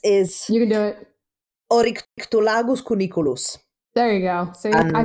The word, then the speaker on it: Oryctolagus cuniculus: And is actually reflected in their own sort of taxonomical name, which is a mouthful to pronounce, the scientific name for rabbits is... You can do it. Oryctolagus cuniculus.